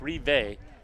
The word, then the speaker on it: Rive: I keep saying Riva. It's Rive. David Rive.